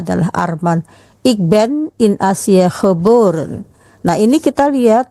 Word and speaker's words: Azië: Ik ben Arman, ik ben in Azië, Azië dibacanya ada terima itu menandakan bahwa I dan E-nya tidak dibaca sebagai I tapi terpisah.